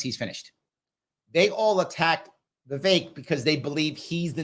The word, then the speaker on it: Vivek: Vivek I thought it was pronounced Vivek it's pronounced the vague um that that the vague ramaswamy would do well in the uh debates